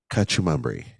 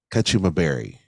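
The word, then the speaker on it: kachumbari: wars, and charred corn kachumambri. Did I say that? Kachumabari. That's it.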